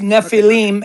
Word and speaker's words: Nephilim: n e p h i l i m or alternatively n e f i l i m pronounced Nephilim and it's Hebrew.